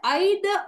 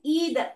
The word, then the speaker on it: either: Next நாங்க பார்க்க வேண்டியது ஐத ஆ ஐத அல்லது ஈத, ரெண்டு மாதிரியும் இதை உச்சரிக்கலாம்.